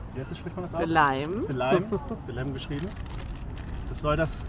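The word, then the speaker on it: Belém: Wie spricht man das aus? Belem.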